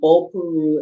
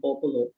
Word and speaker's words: Bopolu: and Bopuru is actually Bopolu because we don't actually pronounce the R Yeah.